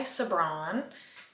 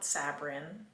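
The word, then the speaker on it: Sabran: He was actually banished by Sabbron. That is how you pronounce her name, not Sabrin.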